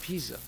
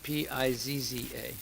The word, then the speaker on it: Pisa: it up right now pisa is spelled p-i-s-a not p-i-z-z-a it's not leaning tower pizza because everything is not pizza in italy so then uh it